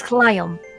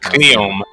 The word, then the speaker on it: Cleom: It's Cleom. It's Cleom spelled like that, but Cleom. Cleom.